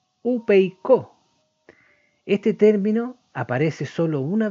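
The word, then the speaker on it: ὑπείκω: está viendo ahí que se llama o se pronuncia upeicó.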